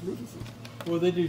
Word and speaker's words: Rufus's: Rufus's.